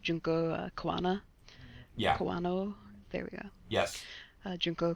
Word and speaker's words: Kawano: Kawano. There we go. Yes. Junko Kawano. I cannot pronounce that.